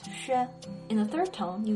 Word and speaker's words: 雪: Now, xi plus yu plus e makes 雪.